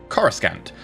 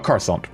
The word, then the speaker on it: Coruscant: into just something like Coruscant, or Coruscant, depending on how you pronounce it. I've heard both.